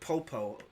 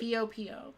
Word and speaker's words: Pio Pio: Anytime anyone like is new to the city and I just put it Popo. Is that how you say it? Pio Pio. P-O-P-O. No, it was in P-I-O-P-I-O. Oh, P-I-O-P-I-O.